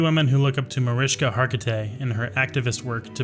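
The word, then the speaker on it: Mariska Hargitay: know a few women who look up to mariska hargety how do you frick do you say that name name pronunciation oriska okay let's try this one more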